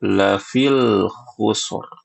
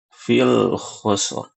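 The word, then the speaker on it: في خسر: membaca lafi khusus ini ada sebagian orang ya kaum muslimin menambahkan huruf lam ya. Jadi bacanya itu lafil khusr. Lafil khusr. Fil khusr. Dan ini adalah kekeliruan ya. Ya, karena kata khus di sini ya ini sifatnya nakirah ya. Sedangkan kalau ditambah al lafil khusr menjadi makrifah ya. Dan ini bisa ee mengubah makna ya.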